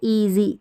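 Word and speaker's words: easy: देखिए ई, शुरू में ही ई ए है तो ई, और यहाँ पर ज करके पढ़ेंगे, एस का उच्चारण ज, स नहीं होगा। और लास्ट में जब भी ई रहता, वाई रहता है ना, इसका उच्चारण ई के रूप में रहता है। हम लास्ट में हम य नहीं पढ़ते हैं, तो ईजी क्या पढ़ेंगे इसको ईजी, ईजी।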